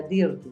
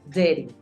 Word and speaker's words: dirty: Acuérdate que no se pronuncia dirty, se pronuncia dirty. Lo que pasa con dirty es un matiz que hace la R también en las vocales.